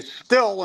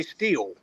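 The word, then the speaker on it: Stihl: I mean, you hear these people say still instead of steel, but then you listen to the commercials, they say steel.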